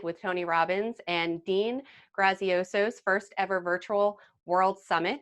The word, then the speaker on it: Graziosi: Dean Graziosi.